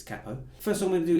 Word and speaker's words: capo: thing you'll need is a capo or a capo if you pronounced it incorrectly it's Kappa first I'm going to